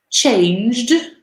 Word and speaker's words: changed: Number 5, I changed school when I was 10 years old. So we don't pronounce the E.